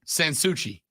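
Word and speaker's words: Sans Souci: You put too much emphasis on the first part. It's kind of said as like one word. Sansuchi.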